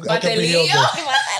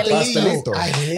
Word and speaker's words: pastelito: If I said, Batelillo. I hate that one. Empanadas. Oh, yeah. Pastelito. Pastelito. I'm like, what's a patelillo? You already know they're Puerto Rican if they say it like that.